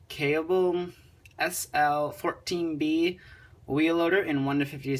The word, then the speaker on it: Kaelble: review of the nzg I think it's you pronounce it cable sl14b wheel loader in